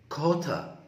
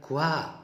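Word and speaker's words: quarter: كوتا خلي بالك، كوتا باست مش اسمها كوا، لا كوا غلط. كوتا.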